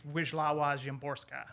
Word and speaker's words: Wisława Szymborska: But I think it's Wisława Szymborska, I believe is how you say her name.